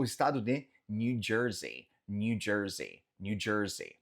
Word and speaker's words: New Jersey: Cruzando a ponte, saindo da ilha, temos o estado de New Jersey, New Jersey, New Jersey. Nota que esse EY no final a gente faz Z, New Jersey, New Jersey.